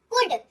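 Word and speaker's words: could: एल को बोलिए चुप रहो और उसका उच्चारण मत करिए।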